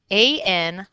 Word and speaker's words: anion: No, this word does not rhyme with onion. It is an ion, anion.